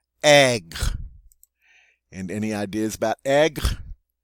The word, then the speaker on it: aigre: the feminine form is the same, and it's pronounced aigre. Aigre.